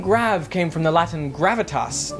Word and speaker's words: grave: well the answer is great or rather grab as it would have been pronounced in the original French you see the graph